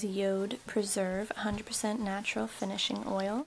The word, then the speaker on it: Jord: It looks like Jord, but it's actually pronounced Yod.